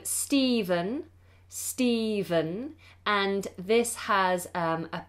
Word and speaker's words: Stephen: sentence is the name Stephen Stephen and this has a pH spelling sometimes it's spelled with a V but whether it's pH or V we pronounce it Stephen with a V Stephen Stephen said something